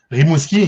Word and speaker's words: Rimouski: I want to make sure I say Rimouski. Is it Rimouski? Is that how you say it, or how do you say it? Rimouski, yeah. Rimouski? Okay.